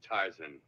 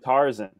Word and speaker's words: Tarzan: So this is the mighty Tarzan.